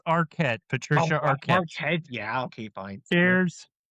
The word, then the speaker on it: Arquette: German names I pronounce in German. Okay. Then uh we have the second main protagonist uh Patricia Arwet playing Kristen Parker. Okay, we have Art. It's Arquette.